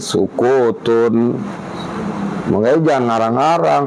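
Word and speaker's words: سكوتٌ: Nggak ada alif lam berarti tanwin, sukutun. Makanya jangan ngarang-ngarang as-sukutu, orang nggak ada alif lamnya kok. Yahsunu Wa yahsunu dan baik juga. Wa yahsunu aidon dan baik juga sukutun diam al-mutakallimi orang yang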